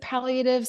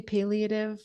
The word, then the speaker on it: palliative: I pronounce it palliative. Some people say palliative.